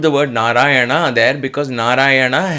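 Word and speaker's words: Nārāyaṇa: word narayana there because narayana has to be pronounced like this if you say narayana has a no then it is not the right way to pronounce and therefore the efficacy of that chant of that sound becomes lesser if this sound na ras there is a na na there narayana so there are two nuns there coming you have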